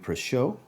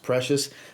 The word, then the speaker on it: Precious: I like to say Club de Nuit Precieux based on how it's spelled, but my understanding it's pronounced Precious.